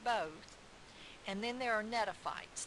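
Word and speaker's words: Gnetophytes: and then there are Netta fights the G is silent and there's 70 species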